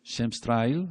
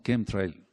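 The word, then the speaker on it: chemtrail: rastro o Estela entonces muchos no le dicen shem tril o Trail sino kem Trail Entonces es una Estela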